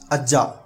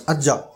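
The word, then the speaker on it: ಅಜ್ಜ: So A is vowel, and then the next one is Ja, which is pronounced twice at the same time, right?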